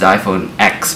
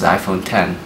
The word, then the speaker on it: iPhone X: Cook said that the iPhone 10 was the biggest leap forward since the original iPhone it's not just pronounced iPhone X by the way it's pronounced iPhone 10 because Romania the screen